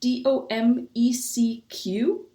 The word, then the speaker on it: Domecq: name because I have no idea how to pronounce it. It's called Domecq. It's Domecq.